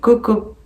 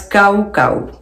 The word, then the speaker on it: Coco: Parce que je les prononçais en français. Mais en fait, je tiens à faire une petite précision que les mots, on les prononce kaucau, kaucau.bags, kaucau knits.